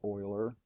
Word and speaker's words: Euler: and it doesn't look like Euler but it's pronounced Euler mr.